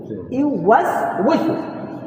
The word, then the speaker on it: يوسوس: يوسوس ওয়ার উচ্চারণ হবে উই উইসু, ইউওয়াসওয়িসু, হ্যাঁ, ইউওয়াসওয়িসু ফি, في এখানে এখানে সুদুরিন নাস, সুদুরিন নাস।